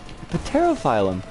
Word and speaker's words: Pterophyllum: In Ancient Greek, the P in Pterophyllum is pronounced and not silent.